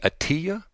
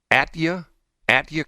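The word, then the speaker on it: Atyia: name what's her name her name is uh attia a-t-y-i-a would that be Atia Atia Collins that's her name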